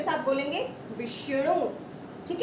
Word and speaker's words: विष्णु: आप सिर्फ बोलने का ध्यान देना है, आपने उच्चारण का ध्यान देना है कि हम कैसे उच्चारण कर रहे हैं इसका। अब एक है विष्णु, विष्णु, तो विष्णु, ये भी वैसे ही लिखेंगे हम, विष्णु।